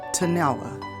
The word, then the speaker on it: Tennille: small rural town of Tennille Georgia sometime pronounced tonella tunnel was a typical